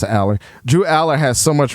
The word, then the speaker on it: Allar: I know it's pronounced Aller.